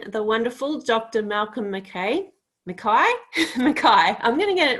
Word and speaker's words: Mackay: all right so it would be uh anya makai not anja mckay exactly so yes we both